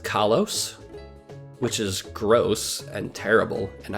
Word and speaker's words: Kalos: Apparently it's pronounced Kalos, which is gross and terrible, and I hate it, and I refuse.